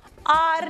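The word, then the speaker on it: hour: Vowel sound से start हो रहे हैं, इज एयर एच is silent, हम आर बोलते हैं इन्हें, है ना, होर तो नहीं बोलते ना, आर, ऑनेस्ट, ठीक है, इसलिए आता है।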